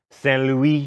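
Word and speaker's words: Saint-Louis: Saint Louis, and at a town called Gorée, both in Senegal.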